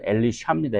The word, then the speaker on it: 엘리샤: 정확한 발음은 엘리샤입니다. 엘리샤. 근데 우리 한글 번역에서는 엘리사로 어 번역을 했는데 엘리사.